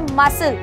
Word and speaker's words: muscle: अगर मैं बोलती हूँ MUSCLE, तो यहाँ पे S और C एक साथ आया है मसल, पर यहाँ पर हमने केवल S को प्रोनाउंस किया और C को छोड़ दिया।